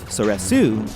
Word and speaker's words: Soresu: So, in this case, I would say the third form of lightsaber combat potentially has two pronunciations based on dialect, with soresu or sores.